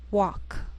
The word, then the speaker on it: walk: Sometimes L can be silent, so you have to be careful.